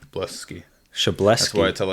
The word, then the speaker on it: Szablewski: I'm going to go with Szablewski. It's wrong. It's Szablewski.